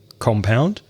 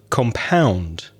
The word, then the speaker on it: compound: can have a prison compound but when you change the stress from the first syllable to the second syllable it changes from a noun to a verb so compound is to mix or